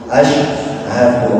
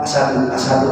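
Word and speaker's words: أَشْهَدُ: Maka salamnya asyhadu an la ilaha illallah wa asyhadu anna Muhammadar Rasulullah. Bacanya harus benar. Ada yang baca asadu apa? Asadu.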